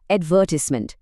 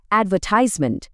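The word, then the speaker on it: advertisement: আমেরিকানরা জোর দেয় দ্বিতীয় অংশে বলে অ্যাডাল্ট আর ব্রিটিশরা তারা জোর দেয় প্রথম অংশে বলে অ্যাডাল্ট আরেকটা দারুন উদাহরণ হলো অ্যাডভার্টাইজমেন্ট আমেরিকানরা বলে অ্যাডভার্টাইজমেন্ট আর ব্রিটিশরা বলে অ্যাডভারটাইজমেন্ট শুনছেন তো স্ট্রেসটা সরে যাওয়ায়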